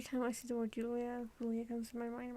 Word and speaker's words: Julia: side erica el sanchez the character's name is julia but in spanish it's actually julia i didn't know that so